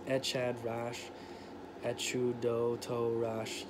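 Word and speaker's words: אחד: As always with translated Hebrew in this book, the CH in this phrase is pronounced like that in the Scottish word lock.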